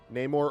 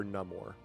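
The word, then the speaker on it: Namor: and here's a question do you pronounce it nay more so you can spell n a y m o r or N More n a m o r Ney more or N More I've always heard it neyar until the new movie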